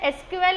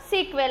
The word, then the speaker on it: SQL: Okay, it is pronounced as एसक्यूएल और सीक्वेल। आप उसको एसक्यूएल भी बोल सकते हो या तो सीक्वेल भी बोल सकते हो।